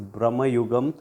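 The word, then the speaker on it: Bramayugam: review of Brahma yugam or should I say Brahma yugam uh my pronunciation I think was pointed out in some of the comments it's Brahma yugam so thank you so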